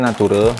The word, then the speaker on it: Natvre: Sebenarnya Nature, tapi di sini U-nya diganti huruf V seperti ini ya. Jadi bacanya tetap ya adalah Nature.